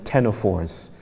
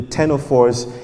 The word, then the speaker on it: ctenophores: I think another name for them is ctenophores, but it's spelled with a C, a silent C. I hate those spellings. But the ctenophores, if you bring them